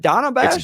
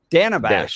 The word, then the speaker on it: Dana Bash: how do you pronounce is it Donna bash Dana Dana Bash short yeah short a d bash Dana Bash Dana Bash